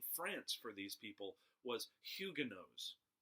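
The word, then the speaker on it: Huguenots: for these people was Hyuga knows hu g ue m OT s Hyuga knows that's the correct pronunciation I've even checked it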